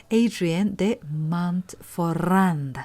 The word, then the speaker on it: Hadrien de Montferrand: one of the founders, Adrien de Montferrand. Sorry about my Spanish accent. He's a French art dealer, so in French, H does not pronounce, so it will be like ADM instead of HDM actually, but anyway, HDM sounded better, I think.